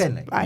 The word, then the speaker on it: Fagbenle: Yeah, and also like you just can't Fagbenle. pause too long before saying the Fagbenle. first and the last. Fagbenle. You sort of The G is silent.